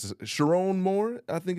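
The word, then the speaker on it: Sherrone Moore: Sharon Moore, I think it's how you pronounce it. Sharon Moore, okay. Sharon Moore is how you pronounce the gentleman's name.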